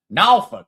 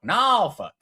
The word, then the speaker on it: Norfolk: To know me, and the correct pronunciation is Norfolk. Uh believe it or not, Nalfuk Nalfuk.